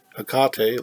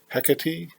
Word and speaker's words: Hecate: last video I pronounced a cocktail like the beer I guess Tecate someone online said that pronunciation can be hecka tea Hecate a Conti got a